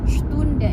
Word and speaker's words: Stunde: Nah, kalau misalnya ini di depan seperti kata Sprache atau Sport, nah itu S-nya dibacanya agak sh ketika ketemu P. Tapi kalau misalnya seperti di kata ini, transport, itu SP-nya dibacanya biasa aja, nggak perlu dibikin sh, transport. Tapi kalau misalnya agak di depan tadi seperti bentuknya Sprache, Stunde, itu dibacanya agak sh gitu.